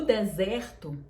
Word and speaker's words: desert: O deserto, você fala desert. Então, a sílaba tônica é a primeira no de. Desert. O E também é aberto. O deserto, a pronúncia é aberta.